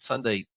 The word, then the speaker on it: Sundae: what Sunday is and Sunday is spelled like an ice cream Sunday s-u-n-d-a-e so we always